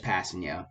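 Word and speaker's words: Kpassagnon: nonanon here we go pronunciation it will be i'm just passing you i don't know why i was even attempting to pronounce the k and that i know it's in the front let's silent just passing you uh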